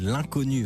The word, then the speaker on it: L'unconnu: L'Inconnu, attention, ça s'écrit l'un L'_UN, connu, CO2NU.